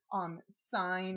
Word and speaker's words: sine: abbreviation for the word sine. It's really spelled S-I-N-E. This is an abbreviation for the word cosine, and it is spelled C-O-S-I-N-E. They want to call this sin. It is not sin.